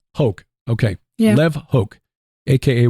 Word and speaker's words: Hoch: It's pronounced Hoke. Hoke, okay.